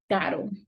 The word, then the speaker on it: caro: If it is in the middle, it will have a soft sound, like caro, caro, expensive.